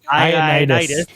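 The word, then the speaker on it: Ioannidis: John, I don't know how we would pronounce this because it's capital I. Ionitis. John Ionitis. Ionitis. Because an A there too. Yeah, it's Ionitis.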